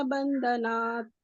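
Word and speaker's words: बन्धनात्: ಯಸ್ಯ ಸ್ಮರಣ ಮಾತ್ರೇಣ ಯಸ್ಯ ಸ್ಮರಣ ಮಾತ್ರೇಣ ಜನ್ಮ ಸಂಸಾರ ಬಂಧನಾತ್ ಜನ್ಮ ಸಂಸಾರ ಬಂಧನಾತ್ ಜನ್ಮ ಸಂಸಾರ ಬಂಧನಾತ್ ವಿಮುಚ್ಯತೆ ನಮಸ್ತಸ್ಮೈ ವಿಮುಚ್ಯತೆ ನಮಸ್ತಸ್ಮೈ ವಿಮುಚ್ಯತೆ ನಮಸ್ತಸ್ಮೈ ವಿಷ್ಣವೇ ಪ್ರಭ ವಿಷ್ಣವೇ ವಿಷ್ಣವೇ ಪ್ರಭ ವಿಷ್ಣವೇ ವಿಷ್ಣವೇ ಪ್ರಭ ವಿಷ್ಣವೇ ಯಸ್ಯ ಸ್ಮರಣ ಮಾತ್ರೇಣ ಜನ್ಮ ಸಂಸಾರ ಬಂಧನಾತ್ ವಿಮುಚ್ಯತೆ ನಮಸ್ತಸ್ಮೈ ವಿಷ್ಣವೇ ಪ್ರಭ ವಿಷ್ಣವೇ.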